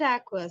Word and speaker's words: Ockwa: But you pronounce it aqua, so it makes no difference how it's spelled.